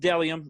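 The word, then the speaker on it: Bdellium: it's the stuff's dope it's pronounced dellium i know it starts with the b it's b d e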